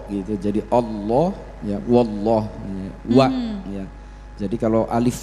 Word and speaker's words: Allah: kok enggak ada maka ketika membaca Allah itu bukan Allah tapi Allah wallah itu kan terbuka fatahakan membuka berarti mulutnya harus